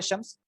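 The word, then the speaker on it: الشمس: तो असल में लिखा कैसे जाता है अशम्स? अलिफ लाम शीन मीम सीन, ठीक है। लेकिन उसको पढ़ेंगे कैसे? डायरेक्ट अलिफ जो है वो शीन के साथ मिल जाएगा, लाम साइलेंट हो जाएगा, अशम्स, ठीक है।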